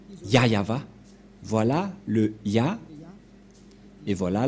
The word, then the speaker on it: Yahvah: voit rien et donc c'est bien la vraie prononciation de son nom yayava voilà le ya et